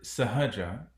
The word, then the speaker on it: Sahaja: So the word Sahaja itself means something that is easy, something that is spontaneous. Um, it's also made up of two syllables, Saha and Ja.